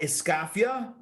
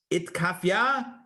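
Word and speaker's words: אתכפיא: And I'm pronouncing it like a good Ashkenazi, right? These are Ashkenazic pronunciations. In the Sephardi or Ivrit Havara would probably be something like itkafia and ithapcha.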